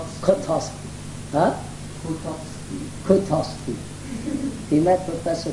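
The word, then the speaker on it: Kotovsky: How do you pronounce his name? Kutowski.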